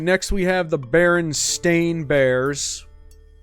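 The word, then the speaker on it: Berenstain: next we have the baron stain Bears it has always been Baron stain there's never been Steen there was no Mandela effect there was no alternate universe you just said it wrong because it's a more common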